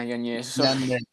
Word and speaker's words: Yanez: Yeah, Yanez.